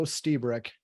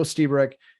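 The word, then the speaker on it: Lstiburek: great article by Joe stebric and yes that's how you're supposed to pronounce his name and it starts with an L the L silent uh Joe stebric I consider this guy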